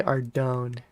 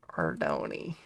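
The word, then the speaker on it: Ardougne: nice ardony ardoni ordoni we've been saying it wrong this whole time everybody it's our dhoni oh music stopped okay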